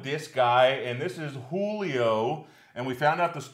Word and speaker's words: Whoolio: Yeah, make sure you spell it right. Exactly. Not just N-H. Julio.